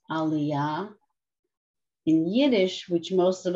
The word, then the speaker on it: aliyah: Yes, in Hebrew, it's pronounced aliyah. In Yiddish, which most of us are used to saying, it's an aliyah.